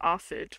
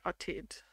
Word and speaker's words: Atid: I would pronounce it Arthid, but he said Atid.